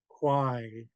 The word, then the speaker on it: quai: Quai. I'm going to do KWYE, rhyming with the word dye, like to dye your clothes.